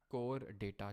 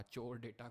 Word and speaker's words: Chordata: अब हमारे last phylum में आएंगे, दैट इज कोर डेटा, चोर डेटा, कोर डेटा, जो प्रोनाउंस करना है वो करिए।